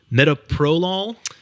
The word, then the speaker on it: metoprolol: Metoprolol.